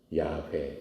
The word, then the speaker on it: 야훼: 것처럼 하나님의 이름이 여호와예요 영으로 쓰면 yhwh 그렇게 쓰는 거예요 그것을 발음하면은 야훼 여호와 이런 뜻이 되는